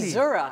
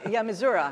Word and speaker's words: Missouri: Missouri, actually. Why? That's how you pronounce it. Missouri.